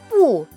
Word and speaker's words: 不: 뒤에 발음이 내려가는 발음이면, 즉 사성인 발음이면 뿌가 올라가줘요. 한번 보시죠. 뿌, 对, 对 는 맞다입니다. 뿌는 아니다, 안 맞다, 즉 틀렸다. 뿌, 对 힘들어요.